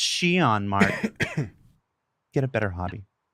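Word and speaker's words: Xi'an: And if your instinct was to stop the YouTube video and go immediately to comments and say, it's pronounced Shion, Mark, get a better hobby.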